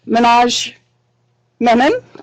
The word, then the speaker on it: Manoj Menon: Manoj Menon. I pronounced it right?